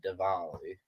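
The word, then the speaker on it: Diwali: oh Festival of uh it's spelled Dali but pretty sure it's said devali okay so the office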